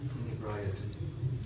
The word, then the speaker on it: inebriety: It rhymes with sobriety.